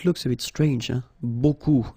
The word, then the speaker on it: beaucoup: If you want to use beaucoup, beaucoup means a lot of. It looks a bit strange, huh? Beaucoup, like that. Remember, you don't pronounce the final P, okay?